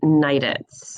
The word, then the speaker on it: Neiditz: So, my name is and my last name is Nidance. Okay, so that's how you pronounce the last name.